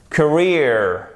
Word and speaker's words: career: Ensuite, double E-R. Donc ici, c'est comme un I court. Career.